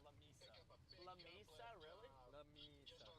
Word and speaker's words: La Mesa: Apparently it's pronounced La Misa.